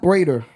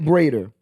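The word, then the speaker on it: Breida: That plays like Matt Brader, right? No one's gonna. That's how you say his name, Matt Brader.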